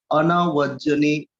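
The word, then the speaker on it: anavajjāni: And then Nyatakanancha sangaho anavajjani kammani. Anavajjani. There's a long A over here. You can see it's long A.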